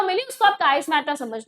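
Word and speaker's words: chiasmata: देखो, इट इज the part of attachment, यानी कि काइस्मेटा, इसको प्रोनाउंस हमें अच्छे से करना है, काइस्मेटा।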